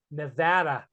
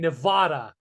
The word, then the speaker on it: Nevada: But hey, how do you say it? Nevada, not fucking Nevada.